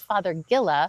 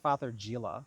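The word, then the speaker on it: Fothergilla: Again, no wrong pronunciations, only wrong spellings, but it is Father Gilla. I called it Father Gila. Okay, well, that works too. Pretty close.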